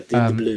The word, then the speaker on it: Dean DeBlois: Dim de Blur, I think. DeBlois, DeBlois. It's like Um, blue but spelt weirdly. So I just Bleu. yeah, Dim de Blue.